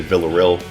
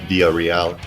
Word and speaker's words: Villareal: Everyone in my family pronounces it different. So Oh, we okay. have my mom and dad say Villareal. My brother goes full Hispanic Villareal. I say Villareal most of the time, but Villareal is also sort of correct.